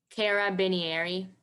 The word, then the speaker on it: carabinieri: noun common um can you please repeat the pronunciation careri am I saying it right Cara bener can you repeat it carabinieri yes carabinieri carabinieri c a r a